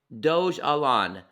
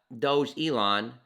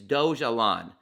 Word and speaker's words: Dogelon: Pronounce Dogelon, not Doge Elon, because the word wouldn't be. It's Dogelon.